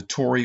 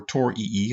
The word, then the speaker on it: torii: This is called the Tori or Torii. I've heard it pronounced either way.